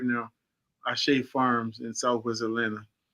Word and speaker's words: Ashe: I was going to bring up the fact that the man's name is spelled A-S-H-E, Ashe. Yes, sir. And most often pronounced Ash, but Majumbe is an amazing brother.